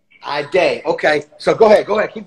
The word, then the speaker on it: Ayydé: Yup, that's how you say it. Ayydé.